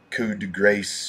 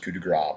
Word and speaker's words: Coup de Grace: pronounce this thing kind of funny they'll say could Grace or what have you but it's pronounced coup de gras but anyway um just got one of these